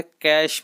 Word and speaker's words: cache: ठीक है, फिर आता है कैश मेमोरी, जिसको कैच मेमोरी कहते हैं, कई लोग कैचे मेमोरी कहते हैं, है ना। इसका एक्चुअल में जो प्रोनाउंसिएशन है वो है कैश memory, CACHE, कैश memory.